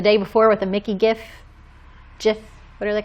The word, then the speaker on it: gif: stands for graphic oh the person the person who came up with that word says jiff really but he is wrong yeah it's a hard g gif it's it's yeah it's